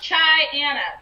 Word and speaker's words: Chyyanna: And yes, people, it's pronounced Chyyanna because it's Chyyanna.